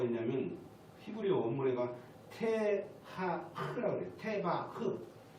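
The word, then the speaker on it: תבה: 테바흐. 흐자라 발음 잘 밖으로 흐 이렇게 나온 게 테바흐.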